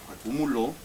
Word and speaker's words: acumuló: Entonces, Patty, después de decorar $30 pasteles, coma, acumuló, acento en la O porque es pasado, acumuló, ¿cuántos tickets?